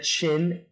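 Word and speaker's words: Qin: that i want to talk about is the chin emperor now i know this looks like it's pronounced quinn it's pronounced now during the period of the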